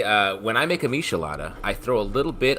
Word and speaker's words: michelada: it with mezcal so michelada is that how you pronounce it yeah like Michelin star uh he made a